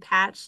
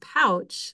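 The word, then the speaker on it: Pautsch: his name was David patch like pumpkin or strawberry patch but it sounds like he normally says it's pronounced pouch like kangaroo pouch so my deep apologies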